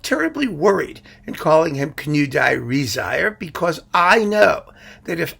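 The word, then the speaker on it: Knudåge Riisager: That means that Knudage Riisager, at this point, you can see how they spell this. He has an A with like a little circly thing over it, and this little E isn't pronounced, and the G is pronounced like a Y, and this second I is like totally unnecessary. I mean, there's no way to know how you're going to say these things, and I happen to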